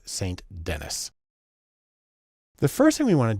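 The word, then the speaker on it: St. Denis: though her name looks like it should be pronounced Ruth Sanden she's American so it's St Dennis the first thing we want to do is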